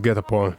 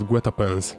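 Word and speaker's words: guet-apens: It's actually pronounced Getapon. What? The word Getapon. You pronounced it Guetapens.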